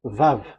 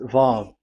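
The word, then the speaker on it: ו: So it's V as in Vogue. So it's really V. How to read Vogue? So the word, the shape Vav is really pronounced V, like Vogue. That is it, pronunciation. So here in this side, it's pronunciation. This is pronunciation. So according to the old Hebrew word today, those who, the owner of the words, I mean, so it's a V. So don't change it into W.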